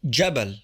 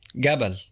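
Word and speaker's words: جبل: J or for example the word for mountain jab is pronounced gab the word for Camel jaml is pronounced gaml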